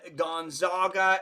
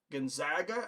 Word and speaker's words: Gonzaga: OD Dawns a chance you would pronounce Gonzaga with the EG as an agriculture rather than the a as an auger Gonzaga I I'm pretty sure it's Gonzaga but you've spent more time